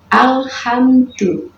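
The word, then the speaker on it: الحمد لله: bacanya seperti itu misalnya cara baca yang salah Alhamdulillah ini tidak boleh ya teman-teman kenapa Karena Allah ini dipantulkan ya langsung punya Allah tidak boleh seperti itu tetapi dibaca jelas aja awalnya alhamdul Alhamdulillah jadi tidak dipantulkan langit-langit tidak tetapi biasa saja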